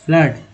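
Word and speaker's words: flood: अब देखिए एफ एल ओ डी है ना, फ्लड, बाढ़, है ना। डबल ओ का उच्चारण अ के रूप में।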